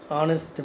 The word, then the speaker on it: honest: He is an honest man. Honest. An honest, because H is silent here.